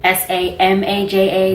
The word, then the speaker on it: Samaja: My name is Samaja, S-A-M-A-J-A. That's how you say it. There's no G, there's no H at the end of it. My name has been getting jumbled and mispronounced my entire life. So I just beat people to the punch and say Samaja. It's said exactly how it's spelled.